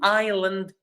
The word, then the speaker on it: island: Uh it's an island. As I said, we write it with S, but we don't pronounce the S.